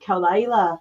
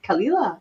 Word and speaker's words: Kalila: People correct me on Kalila all the time, and they'll say, "Oh, right, Kalila," and I'm like, "No, it's Kalila.